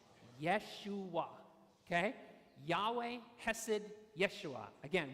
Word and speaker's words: Yeshua: said okay and then the last one is Yeshua Yeshua okay Yahweh hasid Yeshua again we will come